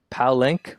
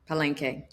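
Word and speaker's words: Palenque: Um, now, uh, JM, outside of cannabis, you co-founded, I might be pronouncing this wrong, Palank Provisions. Um, a multi- Palena. Palenke. Palenke. There we go.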